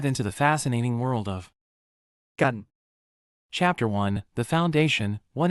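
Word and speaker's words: กัน: That's exactly what gun does in Thai. Gun, pronounced like gun, but with a softer sound, almost like gan is your ticket to sounding natural and connected when speaking Thai.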